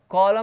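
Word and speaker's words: column: पतझड़, कॉलम, कॉलम में आप देखेंगे एन साइलेंट है, कॉलम मतलब स्तंभ।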